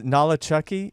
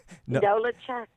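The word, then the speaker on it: Nolichucky: And now also it's Nolachucky. Am I pronouncing that right? Nolachucky? No, you are not. What is, baby? How you say it? Come on now, tell me how to say it. Nolachucky.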